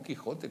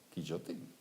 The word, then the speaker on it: Quijote: ¿Y cómo se pronuncia Quijote? Pues nosotros lo pronunciamos Quijote con J, pero ¿cómo se pronuncia Quijote? Quillote sería la J. Quillote.